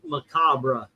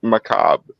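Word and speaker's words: macabre: prefers maab instead of macabra I mean if I'm trying to be like overly theatrical on purpose I might sometimes say macabra but no correctly it is supposed to be pronounced maab so there the moment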